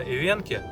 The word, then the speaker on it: эвенки: Кстати, да, я буду ставить ударение именно ивенки, потому что в словарях написано так.